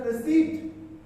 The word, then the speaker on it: receipt: And in pneumatic psychology, a receipt, P is silent.